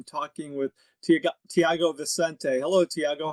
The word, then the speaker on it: Tiago: Hello Thiago, how are you doing today?